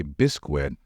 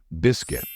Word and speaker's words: biscuit: to say it correctly I know it might be tempting to say bisquit since some of you mistakenly think that this combination of letters should always be pronounced asq as in the word Cuisine however that's not true in this case the correct way to say this word is biscuit it's not biscuit it's biscuit just remember it well Eleanor